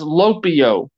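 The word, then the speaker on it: λυπέω: If you look up that Greek word here used for grieve, it's pronounced as lopio.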